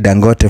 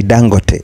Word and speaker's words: Dangote: that is Alo dangote you know we call it dangote from our end here in Kenya but they pronounce it differently so they always say dangote so man alang is